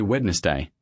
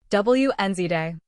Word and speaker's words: Wednesday: Most learners say Wednesday, saying the D. But the correct pronunciation is Wednesday. Wednesday. The D is completely silent.